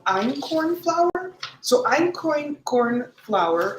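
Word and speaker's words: einkorn: is actually called iron corn flour so I'm coin corn flour it's spelled e-i-n-k-o-r-n this is a 12 000 year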